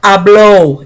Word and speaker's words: habló: There's a difference in accents. It's hablo, and this is habló. You have to say it right, or else you're saying, instead of saying he spoke, you're saying I speak.